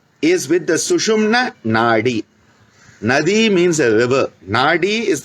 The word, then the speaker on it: Nadi: Nadi means a river. Nadi is the subtle energy channel. Nadi, Nadi. Nadi, they often use a re instead of the D in many pronunciations.